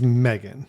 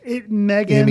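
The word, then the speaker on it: M3GAN: my recommendation and that is the way you pronounce it is Megan Megan m g n even though the E and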